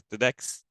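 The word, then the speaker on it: TEDx: tem duas apresentações tedex é assim que se pronuncia tedex em janeiro de 2017 fundou com outros dois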